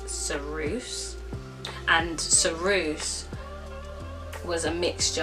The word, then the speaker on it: ceruse: So in early British times, women used to use a substance called, I think it's ceruse. I'm not 100% sure how to say it, but I believe it is ceruse.